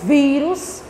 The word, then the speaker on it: vírus: Menino, tô com um vírus. Olha a pronúncia, vírus. Eu chego a puxo. O I, vírus. Sendo assim, é o vi.